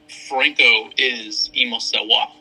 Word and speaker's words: francoisemosawa: Explain to the listeners your Instagram name so we can all start pronouncing it correctly. Franco is Mosawa.